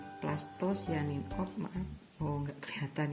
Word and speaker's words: plastosianin: Ini PC itu istilahnya penerima elektron plasto, sebenarnya cianin, cuma dibacanya sianin. Plastosianin.